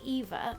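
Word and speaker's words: Aoife: like quite odd like the spell Eva is a o i f e so it's like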